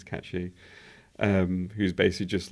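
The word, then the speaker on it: Cait Sith: because they think it's Kate Sith. But I've looked up the actual Irish pronunciation. It's Cat She, who's basically just like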